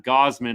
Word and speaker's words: Gausman: me on that one I think I'm saying that one wrong I got corrected by a blue jays fan last time Gosman I believe is the correct pronunciation don't want to get